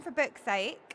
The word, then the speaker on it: For Book's Sake: When you say it, I'll try not to accidentally swear. Still, even after all this time, when I say the name of it, I have to be careful that I say it correctly.